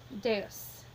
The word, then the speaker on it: deus: It's a two-syllable word, so there's always the accent on the first of the two syllables.